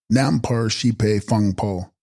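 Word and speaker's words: rnam-par-shes-pahi phung-po: Text renamar she's pi pongpo pronounced nampar sheipe funpo aggregate of consciousness principle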